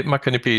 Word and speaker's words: Muckanippie: abundance But let's have a look at your Macanipi Did I pronounce it right project Yeah Macanipi is the right pronunciation Did very well there Here we are